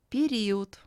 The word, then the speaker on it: Период: In this word, Е is pronounced as E, and O is pronounced closer to U than to A. The voiced letter D becomes voiceless, as it is at the end of the word.